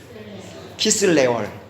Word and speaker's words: 키슬레월: 키슬레월. 성경에 보면 기슬레월이라고 많이 나옵니다. 들어보셨죠? 네, 기슬레월이라고 하는데 그거를 발음하라 키슬레월이래요. 키슬레월.